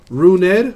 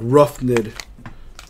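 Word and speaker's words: Rougned: Runed, that's how you pronounce it. I always want to say like Roughned.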